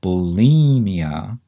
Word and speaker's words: bulimia: is because it's pronounced bulimia and it sure makes it sound like there's an e in there it sounds like it